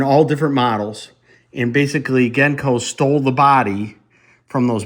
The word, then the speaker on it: Genco: And I mean Genko, not Genko. Genko, that's the correct pronunciation.